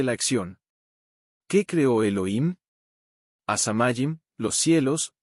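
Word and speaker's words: הַשָּׁמַיִם: A la quinta palabra es asamayim. Tiene el artículo definido a y siempre es palabra grave o llana. Note el acento al lado de la tercera.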